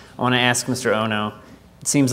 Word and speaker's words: Ohno: First of all, my name is Ohno. It's spelled out O-H-N-O. Sounds like Ohno, a very negative name, but I'll never say Ohno to this wonderful meeting of Aspen.